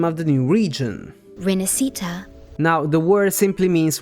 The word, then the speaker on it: Rinascita: which makes sense storywise but that's definitely not how you say that word word and the problems are actually two here first of all the s Italian sound does exist in English it's the sh sound so it should have been she but above all they stress the wrong syllable the